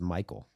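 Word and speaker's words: Maikel: It's actually pronounced Michael.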